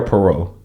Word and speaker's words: Parrott: Is it Parrott or Parrott? I don't want to say it wrong. It's so funny that you asked that because it's actually like both. Really? Uh-huh. Okay. So so what do you say? Right. Actually, I answered to both.